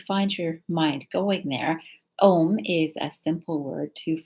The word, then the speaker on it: Om: which sounds like uh it sounds like o in sanskrit when you put a and u together so it's om is the correct pronunciation